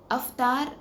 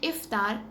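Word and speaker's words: افطار: इसी तरह सहरी गलत प्रोनाउंसिएशन है, साहरी करेक्ट प्रोनाउंसिएशन है, अफ्तार गलत प्रोनाउंसिएशन है, इफ्तार करेक्ट प्रोनाउंसिएशन है।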